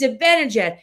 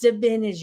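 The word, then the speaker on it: Zibanejad: He said, "It's Zabanad." And guess what? You pronounce his name wrong. I'm like, "What?" He's like, "It's Zabanad, not Zabinad."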